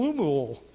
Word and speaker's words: Lemuel: It was to King Lemuel. I try to say it like I do Louisville.